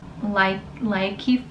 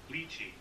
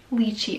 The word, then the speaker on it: Lychee: And my color is Likey Fruit.